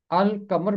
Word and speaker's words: القمر: دو الفاظ ہیں، ایک لفظ ہے الشمس اور دوسرا ہے القمر۔ الشمس کو الشمس پڑھتے ہیں اور القمر کو القمر پڑھتے ہیں۔ چونکہ الشمس میں لام